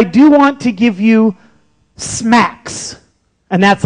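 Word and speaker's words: SMACSS: directly but I do want to give you Smacks and that's how it's pronounced scalable and modular architecture for CSS that's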